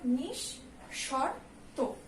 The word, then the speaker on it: নিঃশর্ত: তারপরে নিঃশর্ত, এখানে যেহেতু আমাদের বিসর্গ আছে তাই শয়ের ডাবল উচ্চারণ হবে, নিঃশর্ত, শরৎ দিয়ে উচ্চারণ নিঃশর্ত, কেমন?